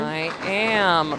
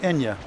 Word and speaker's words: IYA: I am. Prog, metalcore, alt-rock. The band is IYA. You can say Ia or Aya, whichever you prefer. Not Enya. Not Enya, no.